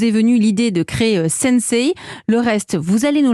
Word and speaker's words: Sensei: Vous êtes le fondateur de Sensei. Ça se prononce comme ça ?